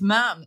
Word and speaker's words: ma'am: You've also got the pronunciation wrong according to the Royal Family official website. They're very strict. Is it ma'am? It's ma'am. It's the only bit of protocol they say is a rule.